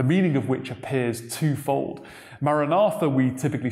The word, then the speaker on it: maranatha: or oh lord come is pronounced from the original text as maranatha but this isn't the